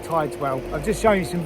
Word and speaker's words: Tideswell: Now, this is the little village of Tideswell, or Tidswell. I think it's pronounced Tideswell.